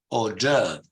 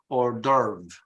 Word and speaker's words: hors d'oeuvre: this element is, okay, in British English, in this case, you follow more the French pronunciation. It's hors d'oeuvre, hors d'oeuvre. But in American English, they say it in a different way, and they even misspell it when they pronounce it because they put the R before the V.